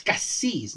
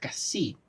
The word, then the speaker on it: Cassis: Oh, yeah, I just check it, and it's Cassis, not Cassie.